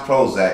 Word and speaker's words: ProHoeZak: velcro holds that but it's pronounced Prozac because the whole assignment